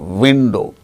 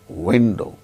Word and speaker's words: window: pronounced like this work wherever there is w in spelling window it is not a window it is window van van w i